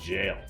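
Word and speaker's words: gaol: That's actually pronounced jail.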